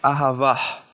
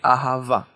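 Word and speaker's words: אהבה: it it won't be aha it will be ahava the letter hey over here is completely silent and it's there for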